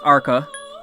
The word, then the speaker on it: Arqa: mispronouncing agua I mean I know it sounds like Aqua but it's not it's ARCA did I just call it arga now it's our cup with a Q A and B oh